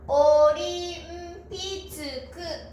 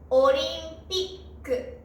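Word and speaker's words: オリンピック: ていると日本人はオリンピックと読んでしまいます。でも本当の発音はオリンピックですね。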